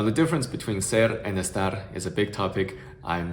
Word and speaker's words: estar: about, around, above, and they would pronounce it like estar, which might sound alright for us to speak English, but obviously the schwa sound it doesn't exist in Spanish. So we definitely want to pronounce it in the Spanish way.